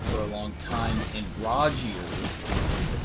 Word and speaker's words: Rogier: I was using barricade shields, I had my summons up for a long time, and Rogier, that's how you say his name, was up for most of the fight.